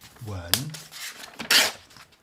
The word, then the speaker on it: 文: And then finally, wen. So I pronounce this slightly differently. Wen, with a sort of inquiring tone, second tone, this one.